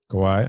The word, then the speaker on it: Kawhi: yeah you can actually would you say kawhi leonard kawaii absolutely that's a b all